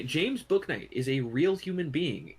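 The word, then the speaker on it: Bouknight: so sred path but yes no J James book Knight is a real human being in the NBA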